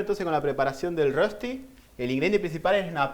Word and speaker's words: Rösti: Y una de las comidas típicas de Suiza es un plato que se hace a base de pap, que se llama Rösti, o Rösti sería la pronunciación.